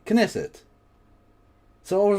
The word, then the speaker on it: Knesset: So, there is a K. Knesset.